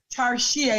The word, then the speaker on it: Tarshea: So I want you to tell us, who is Tarshea? I think I pronounced the name right? Tarshea, it is.